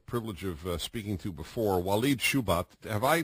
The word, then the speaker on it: Walid Shoebat: never had the privilege of speaking to before wed shubat have I pronounced your name correctly sir right Dennis is